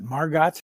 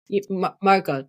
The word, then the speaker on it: Margot: perception her sister and you pronounce it Margot Margot yeah but I you know I say I say it the American way because I'm American our sister in German